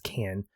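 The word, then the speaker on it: Cannes: which debuted at canned is it can I never can pronounce it it's can and yeah Han or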